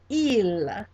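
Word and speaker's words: ils: Our first one is going to be il, il, and that is spelled I-L-S, I-L-S.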